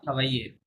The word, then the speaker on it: travaille: ingénieur Il travaille not travailler travail travaille dans travail না double L silent হ্যাঁ travail just বলতে হবে travail il travaille travaille হুম,